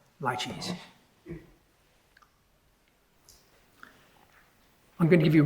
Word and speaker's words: laches: He introduced the equitable doctrine of laches by saying it's pronounced rather like it might be pronounced by a refined Chinese waiter, laches.